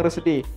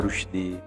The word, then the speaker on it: Rusdi: Pengucapan yang benar itu sebenarnya apa sih Bang? Pengucapannya yang benar Rusdi. Rusdi ya. Penulisannya Rusidi. Penulisannya aja yang Rusidi ya.